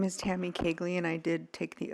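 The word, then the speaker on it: Koegle: my name is Tammy kagley and I did take the oath my name is spelled t mm y last name is k o e GLE e pronounced kley um I wasn't going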